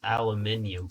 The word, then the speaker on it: aluminium: I need aluminium, or aluminum. Pixelmon used to call it aluminium, I believe. So, that's why I'm used to saying aluminium. But I think they renamed it to aluminum recently.